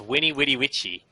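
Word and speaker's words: veni, vidi, vici: the VIN VI vichi fun fact about Latin and the way they pronounce their V's it was W so it's Winnie witty witchy now that you've had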